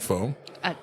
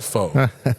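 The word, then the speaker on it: phở: a little bit about pho. It's actually pho. It's spelled pho, P-H-O. It's spelled pho, but I'm Vietnamese. It's pronounced pho.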